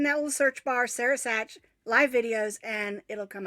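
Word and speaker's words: Sach: it's so funny because nobody knows how to pronounce my last name because it's s-a-c-h and everybody always calls me sack when we lived in germany i always got called sock i thought it was fun because you like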